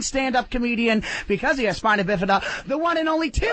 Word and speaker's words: spina bifida: what that is I it's pronounced spina bifida the reason I say